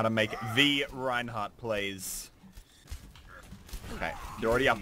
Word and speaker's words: Reinhardt: That's not how you say it! It's Reinhardt! That's how you say it! With passion and love!